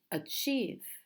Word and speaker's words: achieve: the first syllable so some two syllable words stress the second achieve achieve other two syllable